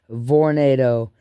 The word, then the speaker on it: Vornado: V instead of tornado they're pronounced with a V Vornado they're little space heaters